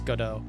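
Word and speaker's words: Godot: and it's not go it's not GDOT it's goddo like gdo okay there the t is silent good to know he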